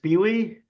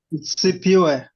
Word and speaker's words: Sipiwe: Is it Spewy? How do you say it? I know I'm killing it. CPU. I was Yay, close. friend. Sipiwe, welcome.